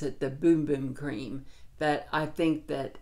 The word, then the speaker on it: Bum Bum: they pronounce it the boom boom cream that i think that uh you can probably say bum bum but when you go to their website they say boom boom love this love this